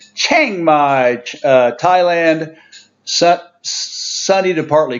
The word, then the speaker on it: Chiang Mai: corrected by a fan it's Chiang Mai to to imitate the Thai the correct type pronunciation Chiang Mai Thailand set sunny to